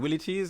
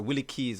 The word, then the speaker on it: Willie T's: That's the kind of Willie T's. Some people pronounce it Willie Keys. I used to hear about Willie Keys, but is Willie T's. That's the right pronunciation.